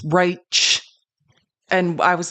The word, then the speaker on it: Reich: say his own name it is R like a sh not a CH and if you don't remember Robert we used to call him Robert it's spelled like Reich re e i c